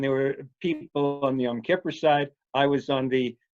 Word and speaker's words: Yom Kippur: How should I, what's the proper pronunciation? Yom Kippur, but I say Yom Kippur.